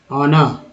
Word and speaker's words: ऑनर: अब देखिए हॉन्क्स, ऑनर, ठीक है, ऑनर, एच का उच्चारण यहाँ पर अ के रूप में हुआ है, एच एक्चुअली साइलेंट है।